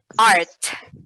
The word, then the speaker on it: art: Art.